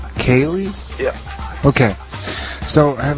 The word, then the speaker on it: Koehli: It's pronounced Kaye. Kaye.